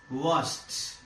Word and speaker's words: washed: This ed is pronounced as washed. Washed.